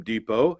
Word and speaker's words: Depot: work well what did you put in Home Depot how did you spell it hom e do P o or and